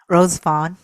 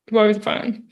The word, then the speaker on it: Rosevonne: And our guest, President Rosevonne. Did I pronounce that right? Rosevonne, yeah. Okay, Rosevonne.